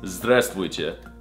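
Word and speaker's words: Здравствуйте: It's Zdravstvuyte.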